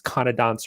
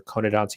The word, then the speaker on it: conodonts: out some facts hey these conodonts are conadon's you can pronounce it either way they were spikey